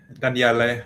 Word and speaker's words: Daniele: Yeah, thanks, Daniel. I think Daniele, I should say. Sorry, I'm now even pronouncing your name with the English accent.